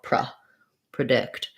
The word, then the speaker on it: predict: things in different words in predict the dict syllable is stressed and so it's going to be a schwa and they'll sound like pra predict in present the verb